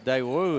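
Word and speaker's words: Dawud: I had to ask on a couple because Daewoo is spelled D-A-W-U-D.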